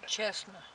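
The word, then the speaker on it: Cessna: When I read it, Chestnut. So you pronounce that Chestnut?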